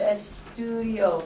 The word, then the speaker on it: estudio: Let's look at estudio first. How many syllables?